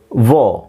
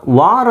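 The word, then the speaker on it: war: ಇದನ್ನು ವಾರ್ ಅಂತ ಹೇಳ್ತಾರೆ. ವಾರ್ ಅಂದರೆ ಆ್ಯಕ್ಚುಲಿ ಅದರ ಸರಿಯಾದ ಉಚ್ಚಾರಣೆ ಅಲ್ಲ, ವಾರ್ ಅಂತ ಹೇಳಲ್ಲ, ಆರ್ ಸೈಲೆಂಟ್ ಆಗಿರುತ್ತೆ. Either you have to ಸೇ ವಾ ಆರ್ ವೋ. ಅದನ್ನು ವಾ ಬರೆದು ಮೇಲ್ಗಡೆ ಒಂದು ಲೈನ್ ಹಾಕಿದ್ದೀನಿ, ವಿಚ್ ಮೀನ್ಸ್ ವಾ, ವಾ, ವಾ. ವಾರಲ್ಲ, ವಾರಲ್ಲ, ವಾ.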